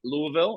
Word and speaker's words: Louisville: Louisville by the way if any one's saying it right Louisville I'm just slurring it like a [ __